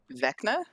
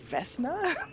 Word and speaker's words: Vecna: Legitimately, the only reason I know his name is pronounced Vecna is because I watch a lot of like Dungeons and Dragons streams. Oh. Otherwise, I would have been like Vesna.